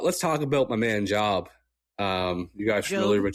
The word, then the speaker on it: Job: Yeah, it's the Yeah, it's Job, but it is spelled Job.